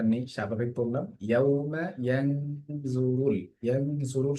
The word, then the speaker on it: ينظر: ইয়াউমা ইয়ানজুরুল, ইয়ানজুরুল শব্দটির মধ্যে গুণা হচ্ছে নুনের মধ্যে, কারণ কি? নুন সাকিন বা তানবিনের পরে জ এসেছে, জ হচ্ছে ইকফা 15 হরফের একটি জ, কারণ এখানে গুণা হচ্ছে।